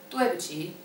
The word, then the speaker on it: 对不起: If you would like to apologize for something, you say 对不起, 对不起.